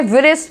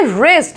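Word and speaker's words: wrist: ठीक है, next word देखो क्या है, विरिस्ट, विरिस्ट, भाई लिखा तो यही है विरिस्ट, तो क्या विरिस्ट बोलेंगे, नहीं, विरिस्ट नहीं, इसको बोलेंगे रिस्ट। इसका राइट क्या है प्रोनाउंसिएशन, रिस्ट, इसमें डब्ल्यू साइलेंट है और हम इसमें बोलेंगे रिस्ट यानी कि कलाई।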